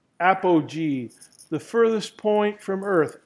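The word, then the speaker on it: apogee: apog G at this level and let me spell that word for you a p o GE e e Appo G the furthest point from Earth Appo meaning Greek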